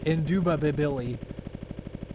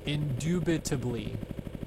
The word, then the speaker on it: indubitably: Indubability. Indubability. Indubability. That's how you just spelled it. Indubitably is how it's supposed to be pronounced.